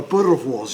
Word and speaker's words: boerewors: In actual fact, we have a sausage here, which is a South African sausage called a boerewors. You have to roll your Rs, apparently.